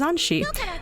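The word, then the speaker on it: Anthy: And then there's Anshi. Spelled Anthe, pronounced Anshi.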